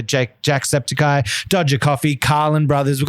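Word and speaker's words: Jacksepticeye: we've got uh Jake Jake septi how do you say it um Jack sepy Jack sepy sorry that's how you say Jake Jack sepy Dodger coffee Carlin Brothers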